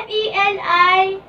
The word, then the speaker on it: Feliluz: It's spelled Feliluz. It's not Feliluz. It's Feliluz. F-E-L-U. No, no, no, no. F-E-L-I-L-U-Z. Let me see. Let me see. It pronounced Feliluz. Feliluz.